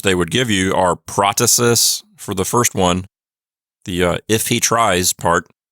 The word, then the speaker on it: protasis: part is called the protasis. Some people pronounce it protasis. It doesn't really matter how you say it.